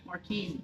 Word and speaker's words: Marchese: How do we say it? Marquise. Marchese. You said it right the It's second Italian, I thought I did.